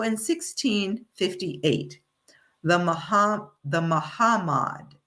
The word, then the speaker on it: Mahamad: So, in 1658, the Maha the Mahamad, it's not Muhammad, it's pronounced differently, Ma- Mahamad, I should say, decided